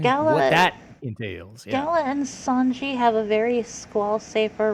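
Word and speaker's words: Songi: this Feud with and I'm always gonna get his name wrong pronunciation Wise It's Sanji Sanji yeah because I always do the Son part I don't know why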